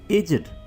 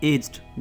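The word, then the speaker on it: aged: सो एजेड नहीं बोलें, आपने इसको क्या बोलना है? एज्ड, एज्ड।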